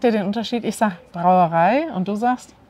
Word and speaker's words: Brauerei: Ihr sprecht wirklich so ein Zungenspitzen-R, so wie Menschen aus Russland oder Menschen aus Spanien. Sag doch mal das Wort Brauerei. Brauerei. Merkt ihr den Unterschied? Ich sag Brauerei und du sagst?